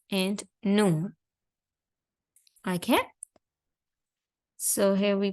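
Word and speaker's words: ن: to pronounce the lam and noon, basically what you have to do is you have to touch this part with the teeth that represent right next to it.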